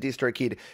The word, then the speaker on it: DistroKid: talk about our sponsors distrokid you don't say it like that it's just distro kid but uh i've been